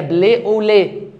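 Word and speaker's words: blé au lait: دي ايه فيقول له قمح باللبن اللي هي بلي اوليه بتتنطق كده بليه اوليه يعني قمح باللبن فاحنا قعدنا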